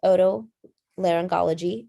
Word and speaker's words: otolaryngology: a little bit more about ent so it's pronounced oto laryngology or otorhinyl laryngology so oto means ears laryngology